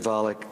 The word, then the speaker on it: Volokh: Please say it in a way that rhymes with Pollock.